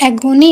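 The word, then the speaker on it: agony: वैसे एगोनी है ये, ठीक है। इसकी प्रोनाउंसिएशन क्या होगी? एगोनी।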